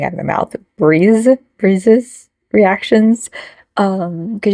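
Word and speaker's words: BRIIZE: of the mouth Breeze breezes reactions um because you guys said it's pronounced like breeze um which is weird because it's spelled like rise so that' be rise but Breeze like their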